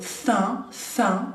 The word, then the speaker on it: faim: Entonces, très plus avoir, por ejemplo, avoir faim, faim es hambre, faim, bien nasal porque tenemos la A y M, entonces acuérdense el sonido faim, ¿bien?